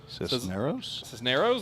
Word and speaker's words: Cisneros: Gloria Cisneros. Cisneros, there we go. Says, let's go, Tanner. Common pronunciation. Yeah. The Spanish name.